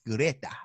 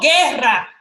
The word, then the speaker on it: Guerra: Juan Luis Guerra. Juan Luis Guerra. I felt like I was spot on. No, Guerra.